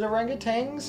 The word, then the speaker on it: orangutan: desert oh in european languages oh is it orangutans no it's orangutan but it's a reality people have tended to pronounce it by rhyming the lat the second